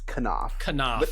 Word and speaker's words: Knoff: will say this actually you got my last name wrong phil it's kanoff everyone as soon as i